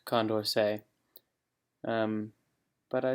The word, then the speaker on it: Condorcet: and just a note i totally butchered the french in this video um i called condorcet voting condorcet voting um so yeah it is pronounced condorcet um but i said condorcet